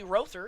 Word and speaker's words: Rother: And now I do have the appropriate pronunciation for this man's name. Casey Rother is his name.